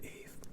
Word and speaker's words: Yve: And finally, now I can't get this wrong because you told me how to pronounce it, I think. Okay, so it's just Yve.